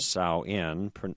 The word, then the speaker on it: Samhain: And I have to confess that in years past, I have made reference to the Samhain word, Samhain, properly pronounced, as the pagan.